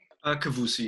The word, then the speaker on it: Kavousi: Now, Kian, again, your last name is pronounced Kavousi, right? Kavousi, yeah.